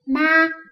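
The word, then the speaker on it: 妈: Vì vậy mà chữ này phát âm là gì? Ma.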